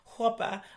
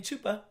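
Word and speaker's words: chuppah: yeah and I research I do not know how to say it so I finally learned how to say it we're saying Hopa I was saying chupa we were in in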